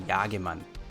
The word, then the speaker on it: Jagemann: I'm assuming this is kind of like a European name, and since I'm German, I'm going to pronounce it German, so just bear with me, and that's going to be Jagemann.